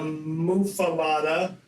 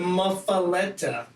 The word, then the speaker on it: Muffuletta: It's not the Muffuletta. Or Muffuletta or Muffuletta. It's the Muffuletta. Etta. Etta. I own 2 JHS pedals, and I love both of them. I own the Pollinator and the JHS Muffuletta.